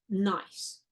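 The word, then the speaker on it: gneiss: slate fite shist and nice so here um this is spelled g NE I SS but it's pronounced nice think Minnesota nice um and then there's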